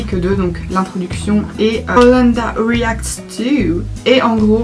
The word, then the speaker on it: Owlanda: Si vous vous demandez pourquoi Holanda, en fait ça s'écrit O-W-L-A-N-D-A. C'est pour Hole et Panda et mixé ensemble ça fait Holanda.